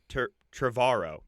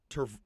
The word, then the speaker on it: Trevorrow: Okay, so Colin Trevorrow. Oh, I said his name wrong. Colin Trevorrow.